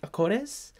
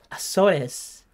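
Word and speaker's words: Açores: And it says, how do I pronounce it? Acores? Azores, which means cow and windmill.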